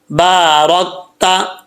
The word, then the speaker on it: بارکت: اللہم بارک علی محمد وعلی آل محمد کما بارکت، را کے اوپر زبر ہے، اس کو پر پڑھا جائے گا یعنی موٹا پڑھا جائے گا، بارکت علی ابراہیم وعلی آل ابراہیم انکا، نون مشدد،